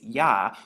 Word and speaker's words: Yah: And so we have the Yod and the Hey, which makes Yah when you put it together.